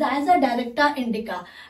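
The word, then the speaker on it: Azadirachta indica: इट इज द एज अ डायरेक्टा इंडिका, but the correct pronunciation is that it is as a directa indica, as a directa indica, it is the as a directa indica।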